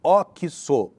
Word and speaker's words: Oxxo: Toda esquina praticamente tem essa rede, eles têm até uma plaquinha na fachada assim, pronuncia-se Oxxo.